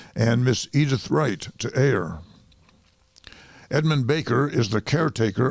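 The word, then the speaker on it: A.I.: as an AI mcnell it's capital A little I and it's pronounced just like the two letters George M Balch was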